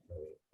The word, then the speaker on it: भवेत्: भवेत जो लिखा है ना, तो भवेत तय नहीं कर देना, तय पर भवेत जोर नहीं दे देना। हाँ भवेत नहीं। ऐसे बोलना, ठीक है ना। हाँ। भवेत ऐसे।